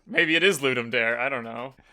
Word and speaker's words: Ludum Dare: little competition I'm so I've never heard that pronounced out loud I don't know how to say it I definitely added some letters in there it's ludum dare ludum Dar in my mind it was always ludum dare maybe it is ludum